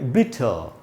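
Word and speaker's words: bitter: एक तो ये जो आर है, इसको मैंने इधर ब्रैकेट में आधा अ लिखा है, ये मैंने ब्रिटिश इंग्लिश के हिसाब से लिखा है। ब्रिटिश इंग्लिश में अगर ये वर्ड का उच्चारण आप करेंगे तो ये आर से वर्ड ख़त्म हो रहा है, तो यहाँ पर उसका उच्चारण नहीं होगा। तो इसको हम पढ़ेंगे बिटर, बिटर। और इसको पढ़ेंगे दोस्तों गुड।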